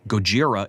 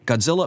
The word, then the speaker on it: Gojira: kind of principle and insist on Gojira instead of Godzilla is just a pretentious kind of pointlessness Godzilla may be mispronounced but it at least